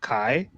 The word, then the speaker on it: Xi: thought it was Chinese, but it's XI. It's pronounced Kai. So I'm like, what? Isn't that Z?